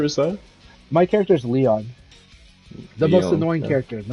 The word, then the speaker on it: Lion: like Marty mlly so people call him lion because it's spelled that way but but you know he's French so you know it's supposed to be Leon yeah when I was